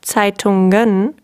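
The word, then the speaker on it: Zeitungen: letter n right but in the plural form as you see we have tsai tongan and there it's clearly a g sound so lisa one thing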